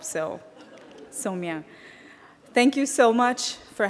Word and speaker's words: Somia: someone that if they if you have trouble remembering how to pronounce it just think of so me a pair of pants and that might help so Samia thank you so much